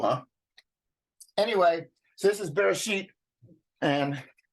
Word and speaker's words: Bereshit: anyway so this is bear sheet and R ish all f r the sheen is a sh sound you would yeah and the TA is the T sound so you sound it out and if we look